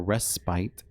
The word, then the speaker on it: respite: I guess apparently it can be pronounced either way, because when I was going through the footage, I said respite, but it didn't rhyme with, I think it was night or something before that. So, but it can also be pronounced respite.